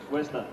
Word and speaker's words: Worcester: Worcester, right? Worcester. Worcester, see? I gotta say it right.